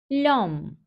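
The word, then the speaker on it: l'homme: bir Dipnot vermek istiyorum h harfi okunmaz h harfi bulunan kelimelerde H harfini okumayıp bir diğer sonraki kelimeye geçiyoruz örneğimiz bakalım leom leom lom lom iki tane cümle örnek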